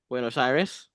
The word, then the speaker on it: Buenos Aires: I'm probably pronouncing it wrong. Buenos Aires? I said it right? Okay, cool. You did say it right this time.